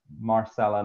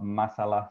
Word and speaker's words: Marsala: And I should point out that that's Marsala, not Masala, so not the South Asian cuisine. There's my Southland accent coming out to pronounce that properly, Marsala.